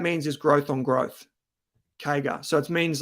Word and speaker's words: CAGR: By the way, guys, whenever you see CAGR, that's how it's pronounced, CAGR, compound annual growth rate, what that means is growth on growth, CAGR.